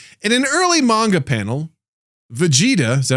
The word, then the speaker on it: Vegeta: In an early manga panel, Vegeta, is that how you say his name? Yes. Vegeta is shown eating noodles with a fork despite being royalty.